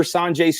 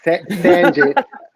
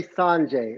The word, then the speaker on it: Sanjay: Sanjay. Most people say Sanjay, but it's San.